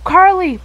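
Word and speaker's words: Carlee: that oh that's a Carly Carly I remember your name this time Carly Carly spelled like c-a-r-l-e-e you know it's a car and Lee like me coming up to Val's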